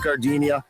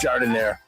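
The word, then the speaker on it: giardiniera: Don't call it Gardinia. It's pronounced jard in there.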